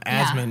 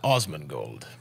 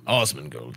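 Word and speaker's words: Asmongold: but like uh the same thing with asmin right people call him asman because it's like intuitive but it's like his intent was that it was like osmond gold right like that's what i'm saying awesome and gold so it's ah that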